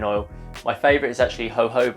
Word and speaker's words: jojoba: my favorite is actually jojoba oil which is spelled with a j as opposed to an h but this is incredibly